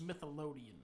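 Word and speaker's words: Smithsonian: It's pronounced Smithelodian.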